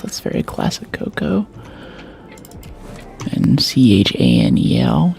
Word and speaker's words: Chanel: That's very classic Coco and C H A N E L channel, but it's pronounced Chanel.